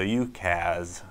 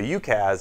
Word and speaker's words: UCaaS: Communications as a service so ukaz you may hear it pronounced so ukaz is a way of